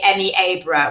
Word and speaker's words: Happisburgh: Emmy Happisburgh, unless you're in Norfolk, and then they will say Emmy Abra, which is the correct pronunciation.